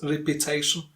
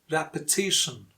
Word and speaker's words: repetition: Next one, repetition. Not repetition, repetition. Repetition. Again, the stressed syllable T before shin.